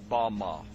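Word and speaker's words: במה: The Hebrew word used in this text for the heights from which Satan fell is Strong's Hebrew word 1116, pronounced Bama.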